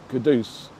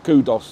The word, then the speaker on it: Kudus: Yeah, I definitely think they should know that his name is Kudus. Starboy. Yeah, Starboy, not Kudos or anything like that, because we're East End